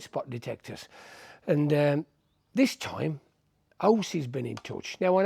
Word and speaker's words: Aoocci: I don't know how you want to pronounce it. Aoocci, Aoocci, whatever you want to call it.